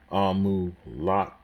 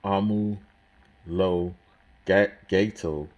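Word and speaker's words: Omologato: Gran Turismo Amulata. Oh, I said it wrong. Gran Turismo Amulo Gato, or Grand Touring Homologated, which sounds more practical.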